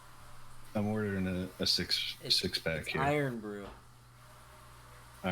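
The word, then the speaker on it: Irn-Bru: it just what wikipedia said iron brew it's pronounced iron brew what is it it's order some carbonated water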